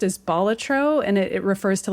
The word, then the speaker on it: Balatro: But uh I guess the way that the word bolatro is pronounced is bolatro and it it refers to like a jester, a joker if you will.